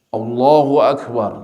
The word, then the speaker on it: Allahu Akbar: Allahu Akbar, bacanya seperti itu, Allahu Akbar. Tapi banyak yang a-nya ini diperpanjang, Allahu Akbar, Allahu Akbar.